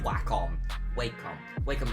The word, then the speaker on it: Wacom: versus wacom and i believe the correct pronunciation is whack on because that's what everyone says i watch youtube though